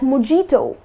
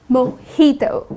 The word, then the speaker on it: mojito: But people tend to pronounce it as mojito. That's incorrect. The correct pronunciation is mojito. Okay. So instead of uh putting stress on the J like mojito, that's incorrect. You're going to say mojito.